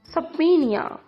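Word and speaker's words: subpoena: इस्तदा, सबीनिया। सबीनिया, इसमें बी जो है वो साइलेंट है।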